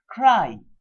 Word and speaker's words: cry: Cry. C-R-Y, cry. Now when you say cry, the word Y over here is pronounced as I, cry, I.